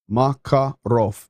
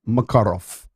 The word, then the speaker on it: Makarov: and go makarov no so in russian um you typically always put the accent it's just a general rule of thumb on the second syllable so makarov you see that so makarov that's how you do it lesson for the night